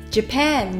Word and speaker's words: Japan: だと思いますジャパンの出だしはジではなく唇を少しすぼめジュと脱力音を出しますジュそしてペーンは